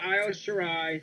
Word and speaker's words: Io Shirai: Io Shirai? No, Io Shirai.